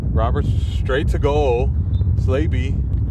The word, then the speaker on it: Slainte: I thought it was Slagby. Right? Come on, Jason. Don't do me like this. Give me the phonetic spelling. I'll give you $1. $2. Dono finds me amusing. How about that? So just checking in from the other game, MSI is leading Baltimore City, still 1-0, the 51st minute. Here back, Slainte. Oh, it's Slainte. There's no why.